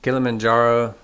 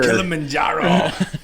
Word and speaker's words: Kilimanjaro: word kill em in kilimanjaro uh tanzania it sounds more like a um like killing men yeah like a uh uh murder thing you know like uh premeditated murder kilimanjaro right kilimanjaro is the